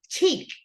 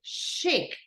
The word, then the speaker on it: chic: no we say CH and we don't say chck we say shik okay listen once again